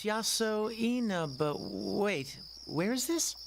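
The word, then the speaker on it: Yasoinaba: How am I supposed to pronounce that? Bah? Oh, it's written beneath the kanji. It's Yaso Ina, but wait, where is this?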